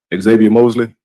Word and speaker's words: Xavier Mosley: Xavier Mosley.